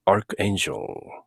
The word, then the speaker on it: archangel: 발음은 비숍인 경우에는 archbishop, angel인 경우에는 archangel.